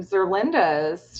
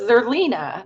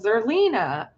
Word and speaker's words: Zerlina: And I wanted to talk about Omarosa being on Zerlinda's show. Oh, it's Zerlina, not Zerlinda. Zerlina. I'm sorry, I was mispronouncing her name.